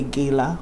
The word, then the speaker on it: gala: anniversary Awards and ganite Americans say Gala but it's Gala for us and we are